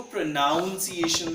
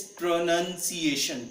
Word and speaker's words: pronunciation: कुछ लोग इसको प्रोनाउंसिएशन बोलते हैं। प्रोनाउंस बोलते हैं कि what to pronouns and हाउ टू प्रोनाउंस। मैं इसमें आपको बहुत क्लियर कर देना चाहता हूं कि इसके अंदर कोई भी नाउन नहीं होता। There is no noun in इट। सो इट्स प्रोनंसिएशन। प्रोनंसिएशन।